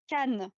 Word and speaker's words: Cannes: I said cans. That's exactly what Ella said. Cans? Cannes.